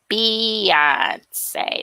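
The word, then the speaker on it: Beyoncé: If her name is Beyonce, why would y'all pronounce it Bayhive? Because they call her Bay. But her name is pronounced Beyonce, like A-B-E-E.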